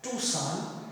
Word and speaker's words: Tucson: on March 31st, 1980 at a place called Tucson, spelled as Tucson but pronounced as Tucson in the state of Arizona, USA.